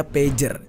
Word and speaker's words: pager: Jelaskan apa itu pager tulisan nya itu pager bacanya pager itu sebuah alat komunikasi